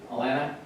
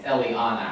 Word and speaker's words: Eliana: Alana. Sorry, I mispronounced it and I got someone to help me. It's Eliana.